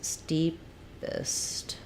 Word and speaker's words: steepest: um first syllable stress steepest um so kind of just like it looks except for we say this more of an is sound steep steepest um that